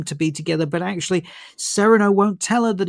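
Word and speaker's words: Cyrano: that obviously they changed Sereno Serrano de Bergerac but in this film is he's pronounced he's he's pronounced as Sereno um they've changed it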